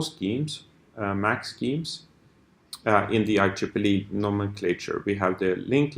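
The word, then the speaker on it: IEEE: a standardization organization called I Triple E so it's I and Triple E that's how you pronounce this it's the Institute electronic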